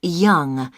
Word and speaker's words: Yonge: Yes, it's Young. J.H. Young. That's... That's spelled Yonge. That's Young.